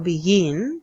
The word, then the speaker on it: begin: está en la última, o begin también tiene dos sílabas y la fuerza de voz está en la última.